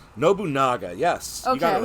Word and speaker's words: Nobunaga: it to me I'm going to say his name wrong and I'm going to feel bad so correct me Nobunaga Nobunaga yes you got it right okay I was